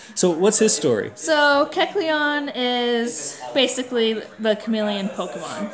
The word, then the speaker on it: Kecleon: So this next one, let's try to pronounce this chameleon lizard thing. Keleon? No. Keleon? Kecleon.